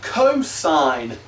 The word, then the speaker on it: cosine: The next one that you see is cosine of theta. So it's not just cos, it's cosine of theta.